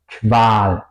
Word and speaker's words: Qual: Por ejemplo, Qual, Qual o bequem. Qual sería tortura, bequem sería cómodo. Se pronuncia más como una K y una W en español, diría yo.